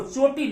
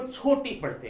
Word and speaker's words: छोटी: लेकिन कभी कभी आप इसको देखेंगे, कुछ लोग अपने नामों में ये लिखते हैं, इसका उच्चारण होता है चोटी, क्या होता है, चोटी, लेकिन वो चोटी नहीं, इसको छोटी पढ़ते हैं।